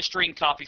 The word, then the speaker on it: strcpy: of functions available to the program including the string copy function to demonstrate the use of the string